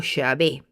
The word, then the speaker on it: Yahvé: tetragramatón, es decir, cuatro letras que son la y, la h, la w y que se pronuncia como Jehová o Yahvé.